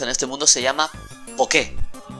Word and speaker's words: Poké: El dinero que se utiliza en este mundo se llama Poké. Hay un acento en la E.